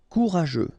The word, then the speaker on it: courageux: Courageux. Final X not pronounced, and then you've got this U, E, and G plus E. After that it's je, so je, okay? Courageux. Courageux.